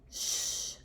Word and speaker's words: shape: that means that I need to make the long vowel sound when I read the word and the E's going to be silent so I'll say a shape shape I'll write it